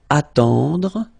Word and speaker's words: attendre: Attendre. Remember, final E, you don't insist on it. It just gives you the possibility to pronounce the dr, dr.